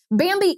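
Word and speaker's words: bambee: help small business owners implement good hr practices bambi is an hr platform built for businesses just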